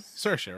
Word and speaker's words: Saoirse: Saoirse, right?